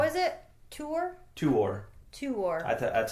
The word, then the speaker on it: Tuor: U, but usually like vowels are not run together when they come next to each other.